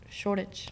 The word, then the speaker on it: Shoreditch: I love how they say it. It's like Shoreditch. It's like spelled Shoreditch.